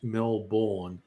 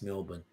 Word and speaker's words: Melbourne: the name of Melbourne it is clearly written. it should be pronounced Melbourne and we just go now it's Melbourne and like what about all those letters you're missing out and just go the too many letters man which is it's